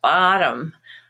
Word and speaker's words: bottom: two syllable word like bottom and in american english that's usually pronounced as olive with the stress on ba but then tom which would be a name normally becomes tum your bottom or bottom